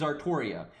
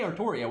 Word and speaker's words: Artoria: thing because like these the way they say it is artoria the problem is japanese generally do not understand elsinores very well and how they work in the english language so they think ultria is ortoria that's but that's what they think um because they say artoria when you hear the voice actors say it and other characters say it they always say artoria but uh they spell